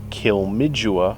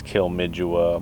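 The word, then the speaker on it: Kilmacduagh: Ennis not Enos uh we looked up this pronunciation three different times on three different websites and it is called kilmidjula Abbey also known as kilmidjua Monastery we have seen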